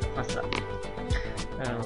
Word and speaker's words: façade: Jadi walaupun A, I terserah, dia akan selalu dibaca S. Façade.